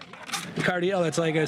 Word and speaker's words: Cardiel: how you mean like if you say it it's Cardel ledge it's like you don't say it like Josh kis ledge no you don't say that you say cardiel cuz that's what I